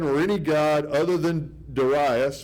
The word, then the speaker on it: Darius: any god other than Darius, or Darius, depending on how you want to pronounce it. I was always taught Darius, and now I know it's supposed to be Darius.